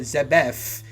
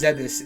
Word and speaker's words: Zebes: Defeat the Metroid of the planet Zebef and destroy the Mother Brain, the Mechanical Life Vein, Galaxy Federal Police, M501. So they did mispronounce Zebes in the beginning.